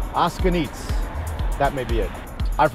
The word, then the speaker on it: O'Scugnizzo: I mean, you look at the spelling, it's like Oskugnizo or something, but the common pronunciation, I believe, is Oskugnitz.